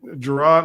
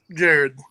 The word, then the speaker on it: Jared: Is it Jared or Gerard? Like, how do you pronounce it? Jared.